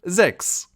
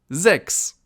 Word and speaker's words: sechs: Our next number is one of the easiest of them all, the number 6, or in German, sechs. Sechs. As you can see, pretty easy to pronounce, and the only big difference is the orthography, so the spelling of the word.